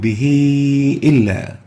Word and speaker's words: به إلا: The ha is followed by a hamza and we pronounce the ha as if there is a ya after it, and we extend it for 4 units because of the hamza, and we say يكذب به إلا, an example of greater connecting med.